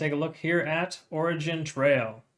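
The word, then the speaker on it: OriginTrail: a look here at origin Trail I said it right this time I said Oregan Trail last time anyways it's considered track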